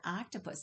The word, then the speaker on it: octopus: Yes, that's an octopus. Do you hear the ah sound at the beginning of octopus?